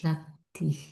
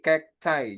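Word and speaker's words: cacti: Nah, dibacanya bukan kakti ya. C. Heeh. Jadinya apa? Jadinya kek cai. Kek cek. Heeh. Jadinya itu kek cai, Teman-teman. Bukan Kak Tik, tapi kek chai.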